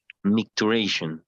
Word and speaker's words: micturition: okay in Spanish okay what's the pronunciation micturition just make duration micturition okay yes yes the